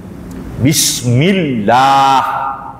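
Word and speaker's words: بسم الله: Bismillah. Tuh, bismillah. Lam tasydid, pakai tasydid. Nggak boleh bismillah.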